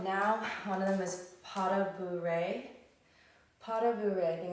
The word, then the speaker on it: pas de bourrée: Now one of them is pas de bourrée.